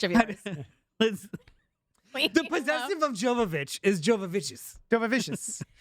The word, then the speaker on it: Jovovich: Jovovich. Mila Jovovich. It's Mila Jovovich.